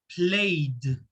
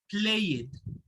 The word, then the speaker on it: played: have a d sound so the word is played we played in the park not play it the pronunciation is played